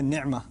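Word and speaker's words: نعمة: کا لفظ ہے نعمہ۔ نعمہ عین کو میں ذرا زور سے اس لیے پڑھتا ہوں کیونکہ میں عربی پڑھتا رہا ہوں اور پڑھاتا رہا ہوں، تو مجھے اردو کے تلفظ سے ذرا الرجک ریاکشن ہوتا ہے، تو میں نعمہ ہی کہتا ہوں۔ ہمارے ہاں مجھے پتہ ہے نعمت کہتے ہیں، جب بھی میں نعمت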